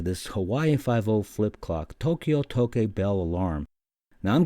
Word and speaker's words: Tokyo: Well, it's not Tokyo, it's Tokyo. It's 2 syllables, 2 symbols.